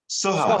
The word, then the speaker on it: Soha: Soha, I think it's Soha, I think that's the way you pronounce it. And I've been corrected on that. Go ahead, Ash. Soha. Soha? Yes. Dr. Soha.